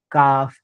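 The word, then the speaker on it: calf: असा उल्लेख होतो बरोबर एल नंतर एफ वापरला गेला तरी एलचा उल्लेख होणार नाही हाफ काफ बिहाफ या पद्धतीने त्याचप्रकारे एल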